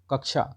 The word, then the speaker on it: कक्षा: होगा ठीक याद रखिएगा कक्षा कक्षा जो है वो शब्द का उच्चारण क्या है तो का आधा का और ये सा ठीक है ये याद